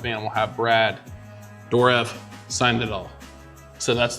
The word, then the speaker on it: Dourif: And Brad Dourif, I think that's how you say his name, right? Dourif.